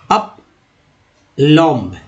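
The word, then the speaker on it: plumb: दोस्तों यहाँ पर जो है अप लॉम्ब, ठीक है, अप लॉम्ब ऐसे पढ़ेंगे तो गलती हो जाएगा, ठीक है, इसको क्या पढ़ना है, अप लॉम्ब, ठीक है, अप लॉम्ब, अप लॉम्ब पढ़ना है, बी को साइलेंट करना है।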